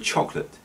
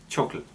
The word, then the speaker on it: chocolate: list is the word chocolate chocolate this gets pronounced many times as chocolate but in fact it misses out the middle syllable an example of this